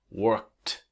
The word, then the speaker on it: worked: We add ed because it's a regular verb and it's not worked, but it's actually worked. Again, 2 steps. Step 1 is work. Step 2, add the sound of T.